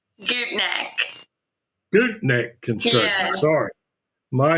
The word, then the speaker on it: Gutknecht: Gutknecht. Gutknecht Construction, Yeah. sorry. My No, apologies. you're fine. It gets Out of butchered all Columbus.